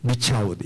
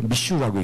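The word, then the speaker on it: Michoud: 영어로는 M-I-C-H-O-U-D 미차우드 이렇게 써놓고는 그러면 프랑스식으로 미슈라고 읽습니다.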